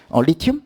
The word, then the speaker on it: 리튬: 리튬? 이거 읽을 줄 알아야 돼. 알았지? 이거 Li라고 읽으면 안 돼. 뭐라고 읽어야 돼? 리튬이라고 읽어야 돼요.